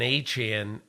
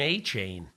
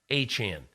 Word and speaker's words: Achane: him after the game, that he seemingly pronounced his name A-Chain. And Yes. but I wasn't positive, so I just asked him after the game, hey, let's just make sure I got the pronunciation of your name correct. I said A-Chain. He goes, no, A-Chan. I said, A-Chan? He said, A-Chan.